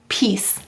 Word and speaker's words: piece: Why do we have a silent final E in piece? What would it say without it? It'd say peak. But the C softens to S because of the E. That's why the E is needed.